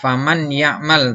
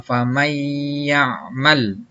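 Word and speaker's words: فَمَنْ يَعْمَلْ: Contohnya dibacanya tidak faman ya'mal, tapi dibacanya famay ya'mal, ya. Jadi masuk disertai dengan dengung.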